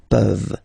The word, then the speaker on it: peuvent: Okay, as usual, this ending, this ENT ending, you write it, you don't pronounce it. Okay, peuvent, peuvent, peuvent.